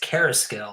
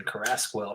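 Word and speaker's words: Carrasquel: I'm realizing that his last name is pronounced Carasquel, I believe. And I've been saying Carasquel for so long.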